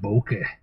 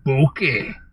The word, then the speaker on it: bokeh: ah I call that bokeh it's called like the Japanese word for the beauty and things that are out of focus and I always like to exaggerate how you say it boki anyway that's it okay